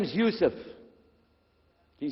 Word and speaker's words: Yusuf: we'll work on it shalom my name is youssef do you say youssef you said yusuf you're very good i wish you'd teach my wife she keeps mispronouncing it she calls me useless now